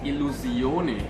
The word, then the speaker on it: Illusione: rather unfamiliar with the brand it is actually pronounced Alou Sione I know I pronounced it with a French